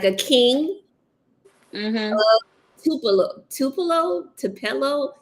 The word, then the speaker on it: Tupelo: The case Tupelo? of what? The Kings of Tupelo. Wait, hold on. Let me. I got a handy notebook. Handy Spell that dandy. out. The Kings, like a king. Mm-hmm. Tupelo.